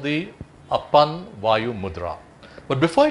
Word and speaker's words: Apan: So first we look at the Apan Mudra or Apan Mudra, A-P-A-A-N or A-P-A-N, whichever way you want to spell it, it's Apan.